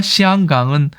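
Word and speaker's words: 香港: 그래서 중국 그 본토 발음으로는 맨저린 같은 경우는 시앙강이라고 합니다. 홍콩과 시앙강은 너무 다르지 않습니까?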